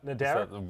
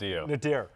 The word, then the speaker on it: nadir: Nadair. Nad woman. Nadir. Nadir.